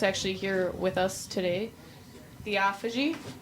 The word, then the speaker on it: Theophagy: We are here with Theophagy.